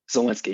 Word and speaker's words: Zelensky: So is this president, am I pronouncing right, Zelensky? Zelensky, yes.